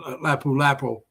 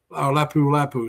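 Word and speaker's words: Lapu-Lapu: I'm going to be staying in Lapu Lapo Lapu Lapu, excuse me, I say it correctly, the first two nights.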